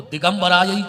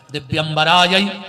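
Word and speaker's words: दिव्यंबराय: मंत्र को बोलो तो दिगंबराय दिगंबराय नहीं कहना है दिवराय च दिगंबराय माता सुसज्जिता आभूषणों में आवे और भोलेनाथ दिगंबर आ गए।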